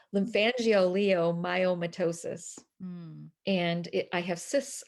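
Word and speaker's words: lymphangioleiomyomatosis: long name Leo wait I said it wrong lymphangio Leo myomatosis and it I have cysts on my lung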